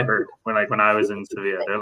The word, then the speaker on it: Sevilla: So you say Seville. You won't say Sevilla. You'll say Seville. but in Spanish it's Sevilla.